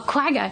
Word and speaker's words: quagga: I mean, one of the paintings in the show has pronouncing this correctly, a quagga? Is that what it was? A quagga, yeah.